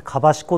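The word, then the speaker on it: 香子: っていうですね香りの子と書いてかしこっていうのがあるん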